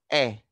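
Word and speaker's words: へ: Okay, so particle e is written in hiragana as he, but it is pronounced as e.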